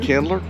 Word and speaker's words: Candler: Is that how you pronounce it, Candler?